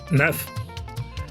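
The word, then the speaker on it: neuf: with nine is nerf nerf and 10 is this this this.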